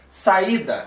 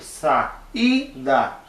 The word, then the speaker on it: saída: Saída, a sílaba mais forte é aquele I do meio, saída, né?